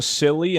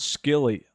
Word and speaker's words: Silly: And it's pronounced silly and not skilly.